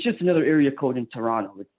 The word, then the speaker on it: Toronto: another area code in Toronto it's like cell phone providers yes a handful of towns been there a bunch of times don't the locals you can call it Toronto they don't pronounce the T it's like T Oro